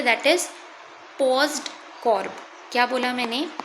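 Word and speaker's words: POSDCORB: That is paused कॉर्ब। क्या बोला मैंने? पी ओ एस D paused सी ओ आर बी। यहां पे ओ जो है ये साइलेंट है।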